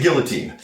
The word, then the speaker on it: guillotine: cover a submission that depending on which canadian official language you use could be pronounced a couple of different ways giving i say guillotine tomato from the two